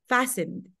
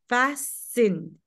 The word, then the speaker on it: fastened: In English, there are sometimes some letters that are silent, and this T is silent. Fastened. Fastened, okay?